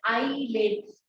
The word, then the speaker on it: islets: Although it is pronounced as eyelids, IS is there.